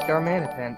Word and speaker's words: Darmanitan: Do I say Darmanitan weird, or am I mispronouncing Darmanitan? Darman. No, it's right, Darmanitan.